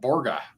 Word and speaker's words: Borga: Borga is how you pronounce it.